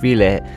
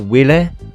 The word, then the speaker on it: Wille: an interesting combilation of v and uh some of the Star Dragon cards especially the era NOA and yes it's pronounced V not will or Willie as most people like to pronounce it I'm sure the Eva